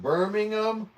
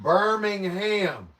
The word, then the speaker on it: Birmingham: hours behind you all place names that in in ham is pronounced um to Birmingham not Birmingham so you're trying to say this place in Alabama is not named Birmingham but birming um ton is sharing oh tun